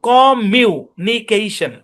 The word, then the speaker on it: communication: কমিউনিকেশন। মানে এখানে দুইটা ম কে একটা ম ধরে পড়তে হবে। এটা নিয়ম। একই কনসোনেন্ট দুইবার থাকলে একটা কনসোনেন্ট ধরে পড়তে হয়। ভেঙ্গে ভেঙ্গে পড়লে এটার উচ্চারণ হবে কম মিউনিকেশন।